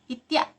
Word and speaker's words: itiak: dengan itik Jadi kalau dalam bahasa Minang itik itu dibacanya itu ya Ih yak Hai ikhtiar itiak lado mudo Hai terus